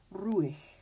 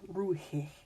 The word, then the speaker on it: ruhig: Or words like this that will be tempting for us to pronounce the H, it's still silent. This is ruhig, not ruhig.